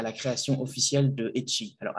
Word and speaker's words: E@I: ECHEI. Donc, ECHEI. Alors, ECHEI, qu'est-ce que c'est? ECHEI, c'est la prononciation en espéranto de E-I, qui est donc la contraction de Educado Che Interreto, donc éducation arrobas internet.